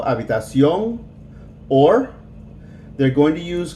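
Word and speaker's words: habitación: a be tossed yo with the accent on the o habitacion or they're going to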